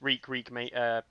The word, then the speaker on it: Reek: He's Reek rhymes with leak on the main Discord.